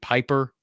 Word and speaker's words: Pieper: Could be Cade Piper. Could be Cade Pieper, I guess is technically the way you pronounce his last name.